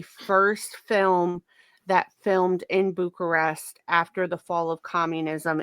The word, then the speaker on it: Bucharest: been actually the first American film filmed in Bucharest. Yes. Did I pronounce that right?